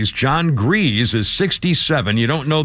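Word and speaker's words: Gries: birthday list includes John I think it's pronounced G or Grizz but it's spelled gree John grees is 67 you don't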